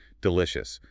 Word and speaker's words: delicious: Delicious. Stress is on the second syllable. Delicious. The first syllable uses the schwa.